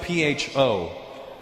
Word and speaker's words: pho: It's spelled P-H-O. Pho. But it's not the way it's pronounced. And in America, people are annoying because I'll be like, yeah, let's go get some pho. And they'll be like, Russell, it's actually pronounced pho.